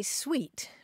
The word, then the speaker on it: suite: of that pronunciation so in New Jersey they say sweet for a bunch of bedroom furniture yeah well that fits